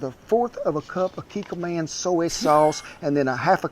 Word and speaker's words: Kikkoman: Uncle Roger have brother living in Japan. I checked with him. It pronounced Kiko Man. And we're going to start off with 1/4 of a cup of Kikkoman soy sauce and then 1/2 cup Kikkoman teriyaki sauce.